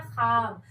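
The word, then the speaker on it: خواب: ज्यादा होता है, और एक वाव ऐसा होता है कि जो बोलने में तो लिखाता, लिखने में तो लिखाता है, लेकिन वाव को बोलने में वाव को साइलेंट कर देना था। जैसे देखिएगा ख्वाब लिखाता है ख्वाब और पढ़ाता है खाब, दस्तरखान लिखाता है, पढ़ाता है दस्तरखान।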